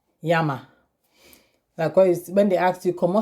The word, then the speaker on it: llama: has double l like yama because when they actually como seyama which means what is your name so thaiyama now is pronounced as y as the english word why instead of so this